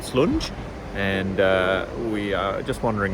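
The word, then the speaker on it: Slunj: towards brass Stoke and slunge I don't know how you pronounce it s-l-u-n-j uh slung is how I call it but the J is probably pronounced with the Y so big anyway that's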